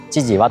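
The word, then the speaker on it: 千々石: 千の千の石と書いて千々和と読むらしいです。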